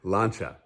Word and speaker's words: Lancia: out it's pronounced focaccia because cia in italian is shaw and nazia which means that lancia is actually pronounced lancha weird foreigners lanza who